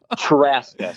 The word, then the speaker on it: Trzaska: Traska. So the Z is silent so it's pronounced as if it were spelled t r a s k a so Traska.